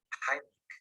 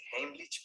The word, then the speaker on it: Heimlich: Vamos a ver en este video la maniobra de Heimlich, que por cierto, esa es la pronunciación correcta porque está en alemán. La mayoría dice Heimlich, pero bueno, se entiende de qué se trata.